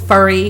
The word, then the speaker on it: Fury: last name of Fury having pronounced my last name 50,000 different ways it's furry all kinds of different